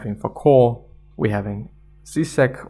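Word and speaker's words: Žižek: for core we're having zisek or shishek i guess it's pronounced anyway in cultural studies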